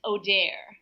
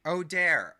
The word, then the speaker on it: Auder: yeah yeah technically my name is pronounced but don't feel embarrassed when you hear the real pronunciation Jacob it's Odair Odair oh my gosh yes